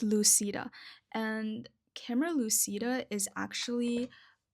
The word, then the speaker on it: Lucida: I said Lucidia. But no, it's Lucida.